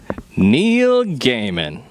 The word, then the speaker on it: Neil Gaiman: i say that right neil gaiman neil neil gaiman all right there we go rhymes with cayman the smaller crocodile right okay here's my